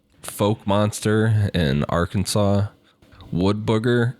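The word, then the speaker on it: Fouke: Folk Arkansas, not Arkansas.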